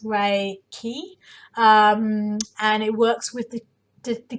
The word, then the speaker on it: Reiki: what is Reiki so Reiki is pronounced ray key and it works with